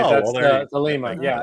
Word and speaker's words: Thelemite: That's the Thelemite. Yeah, it's the whole Aleister Crowley do what thou wilt. Okay, we were mispronouncing it.